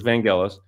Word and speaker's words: Vangelis: son Alexander okay well I must teach everyone here it's vanelis there's no soft G in Greek so it's Vangelis I did not work